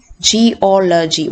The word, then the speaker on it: geology: So you have to split the word into syllables and find out the third syllable from the end, and that will be the stress syllable.